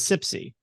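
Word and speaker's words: CPSI: Pronounced as SIPSI.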